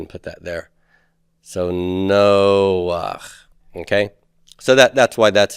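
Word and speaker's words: נֹחַ: Noah is Noach. No, that really could be a whole involved. We'll go ahead and put that there. So Noach.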